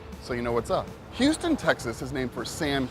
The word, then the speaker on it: Houston: And though it's spelt the same way as the big city in Texas, Houston, it is Houston Street.